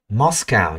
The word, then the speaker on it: Moscow: Moscow nhé, cái mốt rồi. Tiếng Anh không có ô mà.